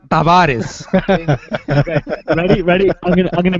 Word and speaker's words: Tavares: is is silent no the t is not silent in Taris it's John Tavaris first of all is pronounced Tavares ready ready I'm I'm